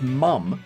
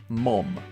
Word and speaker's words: mum: It's mum, not mom. Alright? It's M-U-M. If you don't like it, I don't care. That's the correct pronunciation.